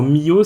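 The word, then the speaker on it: Miyoo: Alors Mio, ça s'écrit M-I-Y-O-O, si quelqu'un a envie de le chercher.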